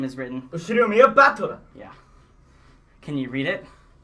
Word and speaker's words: Battler: It's made up of the characters for fight and person, and it's pronounced battler.